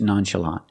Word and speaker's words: nonchalant: and remember the pronunciation the CH makes a soft shh sound it comes from French nonchalant thank you for watching